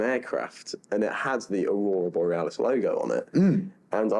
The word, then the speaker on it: Aurora Borealis: be my favorite aircraft delivery um probably the Boris araris um butcher that pronunciation the Iceland Air 757 one oh if you know which one I'm on about the Aurora boreales that one the Aurora Borealis beautiful I've been looking obviously I've been well